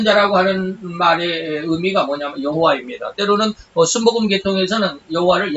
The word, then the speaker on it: 여호와: 때로는 순복음 계통에서는 여호와를 야훼라고도 하기도 하고 그러죠. 뭐 여호와나 야훼나 외국말이니까 그것을 발음하기에 따라서 다릅니다. 그래서 뭐 야훼라고 그래도 되고 여호와라고 그래도 되고 발음하는 사람의 차이니까 여호와가 뭐야, 야훼지, 뭐, 그러지 마세요. 똑같아요.